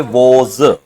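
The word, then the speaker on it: was: वाज।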